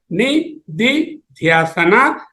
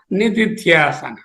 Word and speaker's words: nididhyasana: It is pronounced as nididhyasana, nididhyasana.